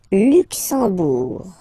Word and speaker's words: Luxembourg: Okay, final G not pronounced, and then when you combine this M here, you get the sound en. You don't pronounce the M at all, it's this nasal en, okay?